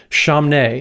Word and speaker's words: Chamness: And Matt, Joey, I do think Rachel pronounces her last name Chamnay. It's French.